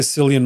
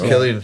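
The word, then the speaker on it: Cillian: Some people Some people say Sillian Murphy. I think it's pronounced Killian. It's Killian.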